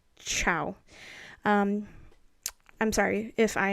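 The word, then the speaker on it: Zhao: i'm saying it wrong i thought it was pronounced sao but i think it's pronounced with more of like a ch like a chloe chow um i'm sorry if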